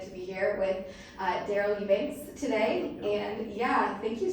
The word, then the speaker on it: Eubanks: So, how do you pronounce your last name? Eubanks. Eubanks? Yeah. Okay, I just want to make sure I say it right. Eubanks. It's like the E's not there. Okay, Eubanks.